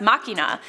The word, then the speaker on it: machina: BJ mac if you say deus ex machine its pronounced makina.